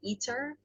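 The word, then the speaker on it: ITER: called i-t-e-r dot org so when people say it they say eater okay but it's spelled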